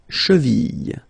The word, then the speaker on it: cheville: La cheville, la cheville. Remember, double L like that after I, y, y, cheville.